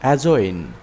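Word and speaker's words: adjoin: এস টি এজাস্ট এখানে ডিজে পরপর থাকায় ডি উচ্চারণ হয়নি এজাস্ট অর্থ সমন্বয় করা এডজেক্টিভ এডজেক্টিভ অর্থ বিশেষণ এজয়েন এজয়েন অর্থ সংযুক্ত করা এভ্রিজ এব্রিজ অর্থ সংক্ষেপ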